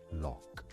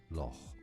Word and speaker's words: loch: in English, this is generally said as lock, lock. It's easy, lock, just like a lock. But in Scottish, it's actually normally said as loch, loch. Loch. So if you wanted Loch. to say it correctly, like the Loch Ness.